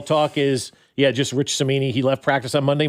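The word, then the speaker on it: Cimini: Rich Samini. Samini.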